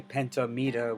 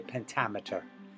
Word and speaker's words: pentameter: so it's the same we don't say penta meter we say pentameter pentameter pentameter okay a ambik pentameter